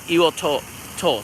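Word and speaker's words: Iōtō: it is yajima and in Japan is called heel toe toe so yeah heel toe is the correct way to say my own is making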